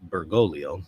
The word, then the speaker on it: Bergoglio: we go Archbishop vegano false prophet bergoglio or bergolo I'm sorry I have father uh alman's pronunciation on the mine here bergolo is guilty